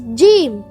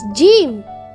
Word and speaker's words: Jeem: The fifth Arabic alphabet is Jeem. Hi, my name is Jeem. Jeem. Jeem. Jeem. You can spell Jeem in English as J-E-E-M. Jeem. It sounds like the English alphabet J.